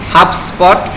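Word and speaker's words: HubSpot: আচ্ছা, এটা হচ্ছে আমাদের এই হাবস্পট, মানে আমি হচ্ছে বি থেকে ভাগ করে তারপরে ইয়া উচ্চারণ করতেছি। আচ্ছা, হাবস্পট।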